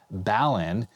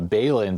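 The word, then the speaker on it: balun: which goes into a balan a lot of people corrected my pronunciation i was calling it a bailin but it's a balanced unbalanced uh converter it's got a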